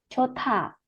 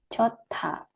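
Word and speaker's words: 좋다: Yorobu di sini dilihat ada hiet bacim, hiet, kemudian bertemu dengan huruf diget, maka digetnya ini dilafalkannya th ya, sehingga ini bacanya chota ya, hanya nggak dilafalkan, tapi D-nya dilafalkannya T, chota.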